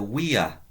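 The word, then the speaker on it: via: or the road is the WEA remember the W the V sorry is pronounced as a W uh we Arena so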